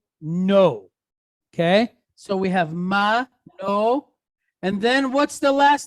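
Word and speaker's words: Manoah: so it's a hit it's at the end of a word and it has putta so how do we pronounce that ah so that gives us Manoa who is whose Daddy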